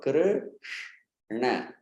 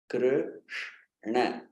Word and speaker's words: Krishna: end, the tongue makes that inward bend movement. Krr, it stays there. You say sh, and you shoot it forward. You straighten it again on na. So Krishna, Krishna.